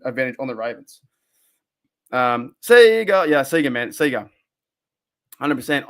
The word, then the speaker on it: Sega: are you get wait are you jumping on me because I said Sega how do you say it how do you guys say Sega Sega oh dude that's terrible it's Sega that's terrible uh no it's all